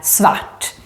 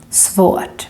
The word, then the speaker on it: svårt: Svårt. Let's say these words again so you can hear the difference. Svart, black, svårt, difficult or hard.